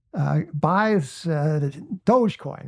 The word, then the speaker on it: Dogecoin: buy this thing called doggy coin and he was con it wasn't like he wasn't saying doggy coin first of all it's Dogecoin he didn't even know how to say it but he didn't think